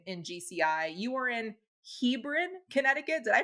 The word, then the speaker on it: Hebron: well 200k in in GCI you are in Hebron Connecticut did I pronounce that right you nailed it yes Hebron and your Niche is at a couple of